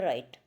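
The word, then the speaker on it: write: next है राइट एंड राइट pronunciation same है लेकिन स्पेलिंग जो है डब्लू आर आई टी जिसमें डब्लू साइलेंट है जिसको हम राइट प्रोनंसिएशन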